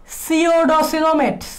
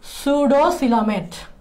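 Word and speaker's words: pseudocoelomate: এটার উচ্চারণ 2 ধরনের হইতে পারে, একটা হচ্ছে এবারে সিওডো আর একটা হচ্ছে সুডো। তোমাদের বইয়ে যেভাবে লিখছে সেভাবে লিখতে পারো। তোমাদের বইয়ে মনে হয় এভাবে লিখছে সুডোসিলোমেট।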